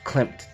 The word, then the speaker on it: Klimt: am going to be clarifying with the Gustav Klimt Dec Dec and I believe that's how I pronounce it how you pronounce it the Gustav